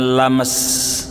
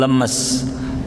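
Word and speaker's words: لمس: paham perbedaan bahasa Arab kalau diawali dengan lam dibacanya lames bukan lemas lam beda antara Mas dengan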